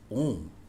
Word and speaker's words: om: oh and then um the correct phonetics of the alphabet m so it collectively can be called as o so by correct pronunciation